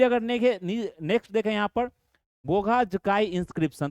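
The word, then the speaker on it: Boğazköy: Next देखें यहां पर गोघा जकाई इं्रिप्शन तो यह नाम आपको प्रोनाउंसिएशन इसमें में ध्यान देना है तो बोध ये क्या है? बोग जकाई इं्रिप्शन।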